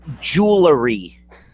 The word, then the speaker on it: jewelry: got on my tiara oh it's it's jewelry jewelry not jewelry it does sound like